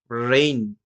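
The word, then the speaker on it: reign: যেমনটা রিজাইন, রেইন রাজত্ব, ফেইন।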